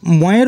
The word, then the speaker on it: मैं: ताई मयेर ऊपर दुईटी मात्रा एवं एकटी बिंदु अर्थात चंद्रबिंदु थाकले तार उच्चारण होबे मैं, जार बांगला अर्थ हय आमी।